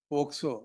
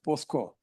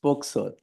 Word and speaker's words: POCSO: Quite often your lordship would say, listen until you say POCSO, not as POSCO.